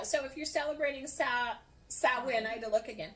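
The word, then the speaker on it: Samhain: It's also called or pronounced sawin. And I have to look at the, um, phonic spelling of it. Otherwise, I always pronounce it wrong. I used to pronounce it just like it looks.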